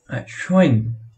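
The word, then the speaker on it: schön: লোভে যার অর্থ সিংহ, শোয়েন যার অর্থ সুন্দর, এখানে শোয়েন এর পরে একটা হালকা ইয়ে উচ্চারণ হবে।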